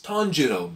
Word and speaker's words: Tanjiro: It's Tanjiro, bro. Say it right.